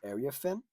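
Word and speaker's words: Iriafen: Um, which was Kiki Arafin.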